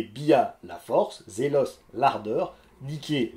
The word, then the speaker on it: Niké: Bref, on peut compter Bia, la force, Zélos, l'ardeur, Niké, la victoire. Au passage, c'est comme ça qu'on doit prononcer la marque de chaussures.